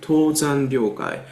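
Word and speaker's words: Tōzan Ryōkai: Tōzan Ryokai is Japanese pronunciation.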